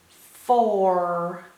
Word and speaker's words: four: three sounds oh ER all is a strange sound for an OU to make oh ER so we gotta remember this part by heart or four four four f o